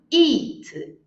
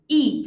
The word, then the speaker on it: eat: e it e e Então a primeira é o Il longo i o nosso I do português i a e e eat eat I like to eat a